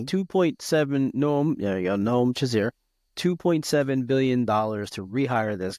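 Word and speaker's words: Noam Shazeer: I'm going to get his name wrong. Noam Shazir. Yep, nope, All right. no, 2.7 Noam. There you go. Noam Shazir.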